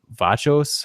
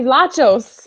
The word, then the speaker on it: Vlachos: Like, I mean, I feel like Tony Vachos, how do you say his name? Tony Vlachos.